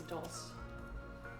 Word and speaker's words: dulse: I might have said dulce before. If I did, that's incorrect. It's dulce.